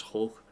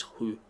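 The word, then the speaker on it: Høgh: I think it's Hoch, but apparently it's Hu. But Kasper Hu, the fucking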